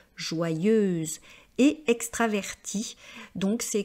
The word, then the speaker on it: joyeuse: est une fille joyeuse faites attention à la prononciation c'est vrai que c'est pas évident de faire le son Yod joyeuse et extra traverti donc